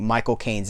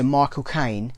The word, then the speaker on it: Michael Caine: I can't remember which celebrity taught us this, but if you want to replicate Michael Caine's accent, you say my cocaine. You say Michael Caine. Michael Caine. That's how you say his name.